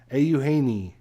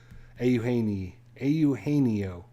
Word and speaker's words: Eugenio: You're right. 5 syllables. That did help. I did. It's one of those names you can see it, and when you see it spelled, it's pronounced differently, so it messes you up. But yeah, I've watched some Reds games, so I knew Eugenio.